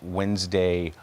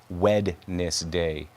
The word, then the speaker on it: Wednesday: Okay, the the D is silent, I guess.